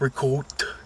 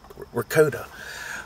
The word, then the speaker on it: ricotta: So when they say, they'll be like, well, it's pronounced ricotta. And it's like, yeah, okay, maybe in Italy they say ricotta or, whatever. This is America. We say it ricotta.